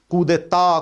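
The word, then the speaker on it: coup d'état: कू की स्पेलिंग याद है ना भैया? कूदे ता, कूदे ग्रा, कूदे मां।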